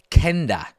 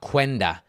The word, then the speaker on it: Quenda: I think it's pronounced Kenda. Okay, not Quenda.